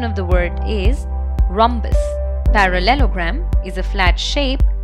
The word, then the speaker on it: rhombus: are not ninety degrees it is often incorrectly pronounced as rhombus please remember our hom is not pronounced as room but ROM so the correct pronunciation of the word is rhombus parallelogram is a flat shape that has four